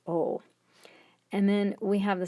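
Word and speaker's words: を: people pronounce it as whoa it's actually pronounced as o and then we have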